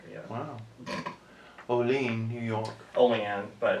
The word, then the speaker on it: Olean: Olean, but it's spelled like Olean.